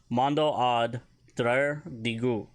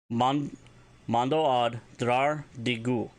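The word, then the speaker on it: Mando'ad draar digu: Mando ad drar digu. Mando ad drar digu. And that is spelled M-A-N-D, beten, A-D, space, D-R-A-R, space, D-I-G-U.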